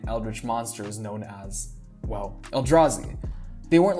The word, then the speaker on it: Eldrazi: of the oh oh el juzai el eldrassi no no eldrazi that's it i didn't really know how